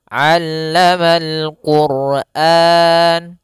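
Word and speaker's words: عَلَّمَ الْقُرْآنَ: tadi kami terlewat yaitu pada huruf Ain jangan sampai dibaca Quran jangan pakai Alif jangan pakai Hamzah tapi di sini huruf Ain a aamamal Quran kemudian di sini rnya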